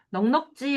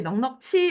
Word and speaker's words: 넉넉지: 이거 발음 많이 틀리지. 넉넉지 않은 살림이지. 넉넉치 않은 살림이 아니고 생각건대야.